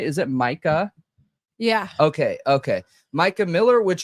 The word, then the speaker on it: Mica: into some Mica Miller, which is, am I pronouncing that right? Is it Mica?